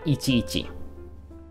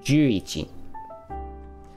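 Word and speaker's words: 十一: It is not ichi ichi. Okay, what is it? Stop doing that, Balin. There you go. It is juichi.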